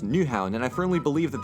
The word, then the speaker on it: Nyhavn: know how I called Neha Vani Haven earlier well I lied because it's actually pronounced new houn and I firmly believe